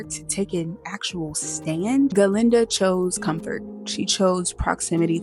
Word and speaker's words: Galinda: I went back and forth because the way she pronounces her name is Galinda, but I'm not quite sure if she spells it Glinda, so I just